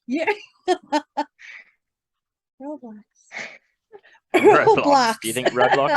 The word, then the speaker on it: Roblox: It rhymes with smelly socks. Yeah. Roblox.